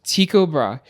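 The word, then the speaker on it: Tycho Brahe: I've been pronouncing it Tiko Brahi for my entire career in astronomy or my entire studies in astronomy.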